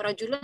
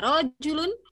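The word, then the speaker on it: رجل: Ana nanya aja ya, untuk rojulun roknya panjang pendek? Pendek. Pendek rojulun. Ya, jadi jangan sampai baca rojulun, gitu ya. Rojulun, kalau pertama berarti bacanya rojulun, udah betul. Ini yang kedua baca rojulun, nah berarti kan panjang ya. Karena ini bahasa Arab, nanti rojulun dengan rojulun, beda.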